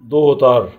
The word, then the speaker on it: daughter: بعد كده الفاميلي العائلة: family عائلة، grandpa جد، grandma جدة، father وتساوي كلمة dad أب، mother أم، son ابن، daughter ابنة. وعندنا جي اتش سايلنت لا تنطق، sister أخت، brother أخ،